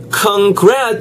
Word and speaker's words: congrats: congrats 할 때 이 R 사운드가 예 re 이렇게 입술 모으는 발음이야.